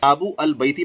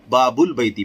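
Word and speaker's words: باب البيت: تو یہ کہہ رہے ہیں کہ اس وقت ال کا حمزہ جسے حمزۃ الوصل کہتے ہیں تلفظ سے ساقط ہو جاتا ہے. بابو البیتی پڑھنا غلط ہے، باب البیتی، پیچھے کا لفظ آیا حمزہ وصلی سے تو وہ باب البیتی ہو گیا.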